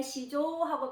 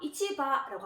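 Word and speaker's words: 市場: 그래서 여기서는 아까 어떤 추상적인 시장일 때는 시조하고 발음을 했으나 자 우리가 어떤 직접 가서 거래를 하는 그런 시장, 물건을 사고 팔고 하는 그런 시장일 때는 요거를 이치하고 발음을 하고요. 요 앞을 훈독으로 발음을 했기 때문에 요 뒤에도 훈독으로 발음을 합니다. 그래서 요거를 바라고 발음을 해서 이치바라고 합니다.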